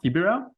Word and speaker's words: Kibera: And so maybe you want to tell us a bit of Kibera. Is that how it's pronounced? Kibera? Yes. Kibera.